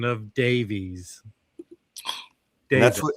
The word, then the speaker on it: Davies: It's not pronounced Davies here. I said, "I'm in the US. We pronounce it correctly." Mazie goes, "Apparently not." Then the guy goes, "No, you don't. Ray Davies pronounced Davis is British."